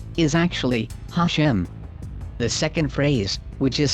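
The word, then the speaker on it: השם: have repeatedly discussed already in hebrew it is pronounced hashem which literally means the name but it was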